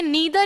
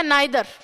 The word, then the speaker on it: neither: मैंने ये बहुत अच्छे से आपको सब्जेक्ट वर्ब एग्रीमेंट में बताया था कि ये नीदर या नाइदर दोनों इसका प्रोनाउंसिएशन होता है।